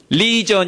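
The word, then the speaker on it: legion: 군대 라고 번역된 말은 그리스어로 레기온 이라는 말인데요 영화로는 리전 이라고 발음하는 단어입니다 이게 6000명의 로마 군단 인데요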